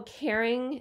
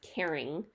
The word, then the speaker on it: Karen: Oh, Caring. It's pronounced Caring. So it's Karen Grossman is the woman who came up with this line, but it's supposed to be pronounced Caring, and she has some lovely beauty products.